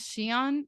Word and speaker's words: Siahn: not the CEO but his name is xion or I believe that's how it's pronounced it's s-i-a-h-n and people in a